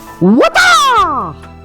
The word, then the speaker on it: Waatah: welcome to Waatah! Okay, which is how you'd pronounce it, all right? And I've been calling it Waatah, which is kind of a watered down version and an easier way of saying it, but that's essentially how Bruce would say it, right?